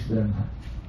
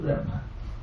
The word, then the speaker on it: Brahman: Then when we join this, we will write B, R, A, H, M, A, N. Once more, B, R, A, H, M, A, N. Brahman.